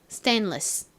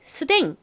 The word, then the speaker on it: stainless: 한 번 더 해볼게요 stainless 이제 스댕 하지 마시고 stainless 이렇게 발음해 주세요 자 한번 같이 써